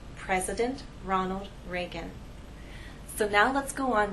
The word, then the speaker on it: Ronald Reagan: the correct pronunciation is President Ronald Reagan we have ours here and here if I take my tongue and touch some part of the roof of my mouth this name will now